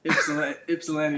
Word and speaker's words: Ypsilanti: KJ, I was looking up your bio earlier, man, and I couldn't pronounce the long name. Mhm. Where is Ypsi, Michigan? Ypsilanti, Michigan.